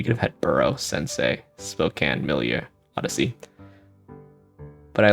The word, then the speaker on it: Spokane: I once was offered a job at Gonzaga in Spokane, so I also lived in Seattle for 3 years, so maybe, but even before that I knew how you pronounce Spokane, but I would say can, and then milieu, or